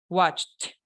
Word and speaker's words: watched: Los verbos de CH se pronuncian con T. Watched.